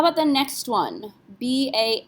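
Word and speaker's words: bas: r f and L do we pronounce the S no s is not one of those four letters c RF l so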